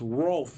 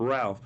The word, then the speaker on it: Rolf: Because I saw someone, I saw a comment that it's pronounced Rolf and not Ralph.